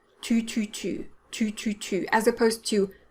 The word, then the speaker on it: tu: sound now in french to make a do sound you're going to want to touch the back of your lower teeth with the tip of your 2 2 2 2 2 as opposed to 2